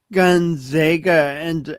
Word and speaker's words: Gonzaga: And then how does Gonzaga enter the story?